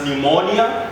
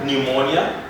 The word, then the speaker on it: pneumonia: psychology we talk about a disease known as pneumonia pneumonia then we say pseudo we talk about psychiatrists